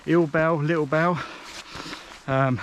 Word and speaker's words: Ill Bell: and go south towards I think it's pronounced little bell ill Bell little bell um it's